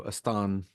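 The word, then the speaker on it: Estean: all right so is would it be estan eston because it would be like a Spanish pronunciation yeah that's that's true because he's from tier so eston um my M my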